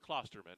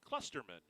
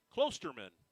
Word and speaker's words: Klosterman: let's see is it it's not cluster man it's klusterman Klosterman is how you pronounce that Klosterman he will be